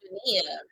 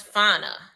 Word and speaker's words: FA: I thought her name was Fia. I thought her name was Fia. It's pronounced FA.